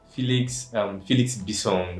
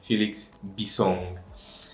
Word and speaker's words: Bissong: Felix Bissong, that's the pronunciation of the name. Felix Bissong.